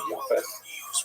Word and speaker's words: Yafes: And I should pronounce that by the way in the Ash pronunciation. Yafes.